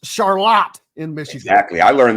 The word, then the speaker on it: Charlotte: much that and the fact that Charlotte is pronounced charot in Michigan exactly I learned that the hard